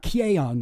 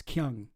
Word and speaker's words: Kyung: So one thing I know about pronouncing Korean names, when it says E-O, you pronounce it like like as in like uh-oh. It's like Kyung, not Kyeong or whatever. Kyung. It's Kyung.